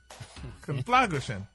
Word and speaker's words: conflagration: It's C-O-N, confla, F-L-A, grush, G-R-A-S-H-U-N, conflagration. Nope. Put it together. Okay, it's a noun, Ricky, and it's spelled... Gration. Exactly. Gray. Gray, not gra. Oh. It's gray. Conflagray.